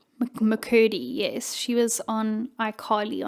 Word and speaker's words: McCurdy: McCurdy? McCurdy, yes.